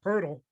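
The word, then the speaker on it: Poeltl: you don't get it his name does not look like it should be pronounced purdle it's p-o-e-l-t-l how do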